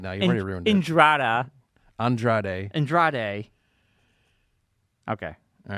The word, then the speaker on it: Andrade: Andrada or Andrade? Andrade. I'm going to say his name wrong.